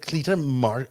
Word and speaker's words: Cleta: Cleta, I think is how you say her name.